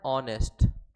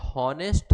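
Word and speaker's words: honest: अच्छा एक बात ध्यान देना, ये हॉनेस्ट है या ऑनेस्ट है, ये ऑनेस्ट है। क्यों, एच भले ही लिखा हुआ है लेकिन यहाँ पे एच साइलेंट होता है, इसका प्रोनाउंसिएशन जो होता है वो होता है ऑनेस्ट।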